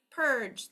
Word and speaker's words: purge: syllable Purge all right so even though there are two vowels in this word right here the E's job is simply to make the G say J it is a silent E so you do not count it as a syllable um Saturn Saturn sat